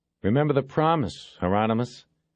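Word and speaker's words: Hieronymus: He looked at Bosch through the camera and said, "Remember the promise, Heronomous? Rhymes with anonymous," Bosch said.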